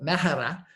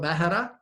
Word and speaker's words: Mehra: We're chatting with Mehra. He's corrected me on how to pronounce it. Is that right? Mehra?